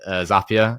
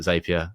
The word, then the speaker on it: Zapier: you guys call it Zapia. I don't know which one it is to be honest. It's one of them. It's I asked them. It's Zapier like happier.